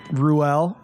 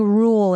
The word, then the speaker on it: Ruelle: absolutely crushing it uh rouel pronouncing it right yes that's correct correct how many different wrong pronunciations have you got oh there's so many i think rule is the most popular though rule so not rule that's like the mississippi pronunciation yeah for sure well